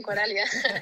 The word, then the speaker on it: Coralia: Y obviamente muy especial, va jugando con su hermana Coralia, si lo pronuncié bien, y obviamente también con su entrenador, siendo su papá también. ¿Cómo fue esa experiencia? Sí. Sí, lo pronunciaste bien, Coralia.